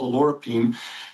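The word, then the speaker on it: oleuropein: Now, the olive leaf extract has something called alorapine. And although it's pronounced different ways, so if you hear it, alorapine is how we're pronouncing it.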